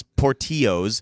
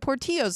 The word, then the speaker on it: Portillo's: That's Portillo's. Really? In Spanish, it is Portillo's. You can just pronounce it incorrectly in Chicago all you want.